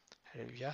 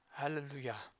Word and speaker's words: alléluia: va se prononcer donc comme dans le mot alléuia alléluia c'est un mot que on entre souvent et on ne sait pas pourquoi le on aurait dû dire helluia mais comme c'est assez difficile